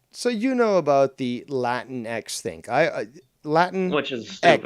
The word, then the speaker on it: Latinx: I always thought it was called Latinx, you know, like Sphinx or fucking Minx or something like that. And then I was told, no, it's pronounced Latin X.